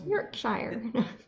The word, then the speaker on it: Yorkshire: made out of I love how you are pronouncing Yorkshire properly I go I just you know it's Yorkshire yes Yorkshire um that's just how I've learned